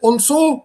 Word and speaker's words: also: Is it also or also? Also. Also. Also. So the stress lies on the first syllable.